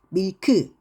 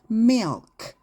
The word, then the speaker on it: milk: 그래서 우유가 발음이 밀크 이게 아니라 그래서 milk 이렇게 발음을 하셔야 돼요.